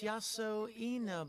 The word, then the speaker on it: Yasuo Ina: name to make out how am i supposed to pronounce that oh it's written out beneath the kanji oh it's yasuo ina but wait where is this